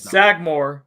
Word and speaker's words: Sagamore: i think it's pronounced sagemore i think it's not it's sagmore uh brendan you pick